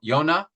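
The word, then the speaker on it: יונה: like a dove like Jonah y yonah would be the pronunciation um would fly away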